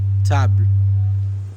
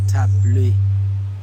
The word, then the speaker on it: table: Exemple, table, table, et non tablé.